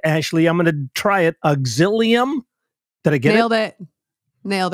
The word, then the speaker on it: Auxilium: as a licensed counselor at I tried to pronounce this word Ashley I'm gonna try it auxilium did I get it nailed it nailed it